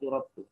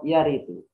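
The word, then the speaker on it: يرد: Kalau saya bacanya bukan qad yuraddu, qad yaridu.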